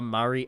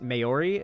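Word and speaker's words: Māori: And so if I was like a guy from that culture like a New Zealand like indigenous person, Mayori is how it's pronounced.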